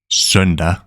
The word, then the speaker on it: søndag: Søndag, søndag.